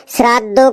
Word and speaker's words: শ্রদ্ধা: তাই তাই মা বাবাকে শ্রাদ্ধ করতে হয়। মা বাবাকে শ্রাদ্ধ করতে হয়। কি উল্টো পাল্টা উচ্চারণ করছিস? ওটা শ্রাদ্ধ না, ওটা দেখ লেখা আছে শ্রদ্ধা শ্রদ্ধা।